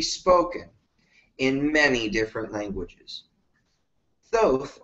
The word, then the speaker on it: Thoth: Thoth, or Tot, as it's pronounced in ancient Egypt, inspired teachers who were